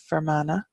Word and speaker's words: Fermanagh: think we skipped Oh from Anna up here Fermanagh and that comes from far mana which is